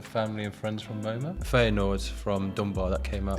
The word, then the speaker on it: Feyenoord: Feyenoord. I'm sorry to all my Dutch friends. I know you're going to hate me, but I will pronounce it how English people pronounce it. Wrong. Wrong, essentially.